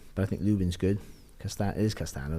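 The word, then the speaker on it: Castaño: Castano, that's how you pronounce it.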